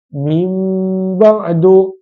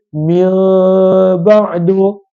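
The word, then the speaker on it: من بعد: tidak ditekankan mim ba'adu kalaulah nun mati bunyi dia Min Badu tapi iqlab selepas nun mati apabila datangnya huruf ba akan ada tanda mim kecil di atas huruf nun ataupun t n tersebut maka ianya dipanggil iqlab cara bacaannya adalah dirapatkan kedua bibir namun tidak ditekankan maka cara bacaannya adalah minim ba'adu maka ini adalah daripada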